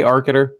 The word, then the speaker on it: Arcater: The next one comes from Arcater. He, am I pronouncing that right, by the way, Arcater? Oh, yes, Arcater, that is exactly correct.